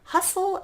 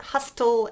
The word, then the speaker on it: hustle: a couple more letters the silent T is next with hustle and bustle there's no T in there it's not hostile and bustle its hustle